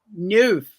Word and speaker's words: neuf: I still remember in a Nancy Drew book about a number 9 that she said in French, neuf or neuf. I don't know how to pronounce it.